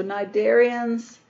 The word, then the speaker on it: Cnidaria: umoa are the narian the C is silent in this philm name so nid darians live in the ocean